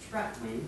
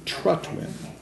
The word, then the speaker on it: Trutwin: It's Trutwin. Trutwin. Say it just like it's spelled.